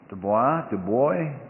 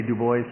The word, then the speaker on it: Dubois: I say Du Bois, but a lot of people say Dubois, and I just Du Bois. roll with it.